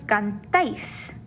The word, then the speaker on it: cantáis: If a word does carry an accent mark, you will stress that syllable. So for vosotros, for example, it wouldn't be cantáis. We see the accent instead, so we know that it's vosotros cantáis. That stress is there on the end.